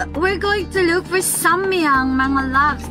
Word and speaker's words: Samyang: It's samyang kong?